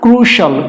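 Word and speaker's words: crucial: এই যে সি আইল সল জুডিশিয়াল ক্রুশিয়াল না ক্রুশাল ক্রুশাল ইউ আইল ক্রুশাল ক্রুশল বেনিফিশিয়ালটা হবে না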